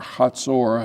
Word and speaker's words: Hazor: authority was in this city of Hazor, or Hatzor, however you want to pronounce it. And that's Israeli-like or English-like.